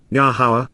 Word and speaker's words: Yahweh: For indeed, because truly, this is what, Yahweh, the proper pronunciation of the name of Yehovah, our Eloah, God has